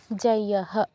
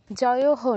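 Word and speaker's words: जयः: আছে আচ্ছা ঠিক আছে যেমন সামিতিন জাইয়াহা একটু আগে দেবস্মিতা যেটা বলল যাইয়াহা জয়হ নয় এরকম বলতে হয় আচ্ছা ঠিক আছে আপনারা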